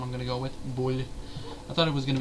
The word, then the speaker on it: Boulle: going to go with bull I thought it was going to be bu a because of the e but I think it's bull I think the E is probably silent but anyway uh what